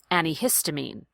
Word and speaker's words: antihistamine: hear maybe more people most people will lose that tea and pronounce it this second way an e histamine I recommend going with the first one and saying ante I think it adds